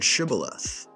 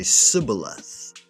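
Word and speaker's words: shibboleth: They asked each man to pronounce the word Shibath. The Ephraimite dialect could only say cibilith.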